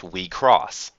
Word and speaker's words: WIXOSS: Right now, the common consensus is that the word is pronounced Wecross.